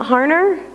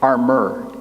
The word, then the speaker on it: Harmer: Is it not Harner? Harmer. Are you kidding?